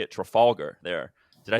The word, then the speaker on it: Trafalgar: Trafalgar. There. Did I say that right? That's a Trafalgar Square in London.